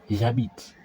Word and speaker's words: j'habite: two vowels because h's in French are silent. It's like the h in there. It's like You see, there are two. And if there are two vowels that follow each other, we have to omit the first one. So, we'll omit the e and then you replace with an apostrophe and then you join them together. So, it will be the j apostrophe and that. So, it becomes j'habite.